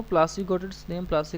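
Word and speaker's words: Plassey: यहाँ पे एक वर्ड है, डू you know प्लासी गॉट its name, प्लासी का नाम कैसे पड़ा? प्लासी इज an anglicised pronunciation of पलासी।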